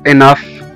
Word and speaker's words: enough: وزي كمان كلمة enough، enough أو كافي أو يكفي. enough E-N-O-U-G-H. الجي جه بعد منها الاتش وخلاها اتنطقت كأنها اف أو حرف الفه زي ما احنا شايفين دلوقتي.